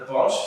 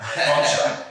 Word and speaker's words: Bonch: And then the Bosch, so Source, how can you not know how to say his name? Bonch. It's not that hard, Source, but Bonch got 45.